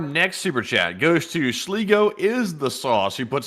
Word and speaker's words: Sligo: They said, just to clarify, it is pronounced Sligo is the sauce, and a big thumbs up.